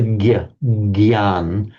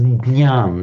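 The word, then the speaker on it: ज्ञान: It's the one that in Hindi they pronounce as the gyan. I think in Marathi you actually pronounce it as jnaan.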